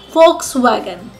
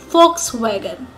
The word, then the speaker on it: Volkswagen: It's a German car and the right way to pronounce it is Volkswagen. Volkswagen.